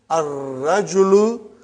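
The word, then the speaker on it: الرجل: Next one is ar-rajulu waqifun. Before we said al-waladu waqifun or al-mudarrisu waqifun. Those are all moon letters. Now we have sun letter ar-rajulu waqifun. Brother, as-sukkaru.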